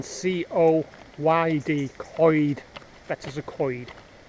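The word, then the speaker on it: Coed: minute coid coid language it looks like co-ed but it's pronounced coid as if you're saying coid a bit of a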